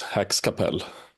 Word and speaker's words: Häxkapell: to potentially mispronounce things so Hax Capel that's how I should say the name of your musical project is that more or less correct more or less Hax Capel Hax Capel and does